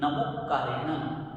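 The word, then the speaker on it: नमोक्कारेणं: यहाँ स्ट्रेस देंगे, नमोकारेणन।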